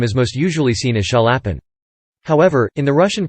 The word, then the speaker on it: Chaliapin: During the first phase of his career, Chaliapin endured direct competition from three other great basses: